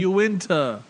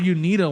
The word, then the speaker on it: Uinta: UInta. UInta. Come on, Tim. Why do they say it like that? You called it UNITA one time on the when we were first doing this show.